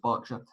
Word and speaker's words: Berkshire: from Buckingham Palace to a Berkshire that's pronounced Berkshire on 19th of March